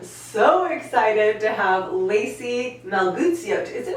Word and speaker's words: Melguizo: It's almost like geese.